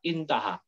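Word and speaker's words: انتهى: Nah, seperti ini, aha jangan dibaca aha, intaha.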